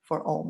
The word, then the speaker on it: Om: People chant Om in yoga, so we can spell it O-M, but there's more to it than that. It's a 4-part cycle, A-U-M space, kind of put that in little quotation marks, representing a primordial sound, representing the idea that everything is a vibration.